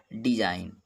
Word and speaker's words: design: अगर यन से पहले जी है तो साइलेंट होता है। जैसे देखें, डिजाइन, DESIGN।